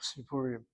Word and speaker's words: סיפורים: That yud there is not really a long kirik. It's the writing without vowels to get the chirik sound underneath the samach, sipurim.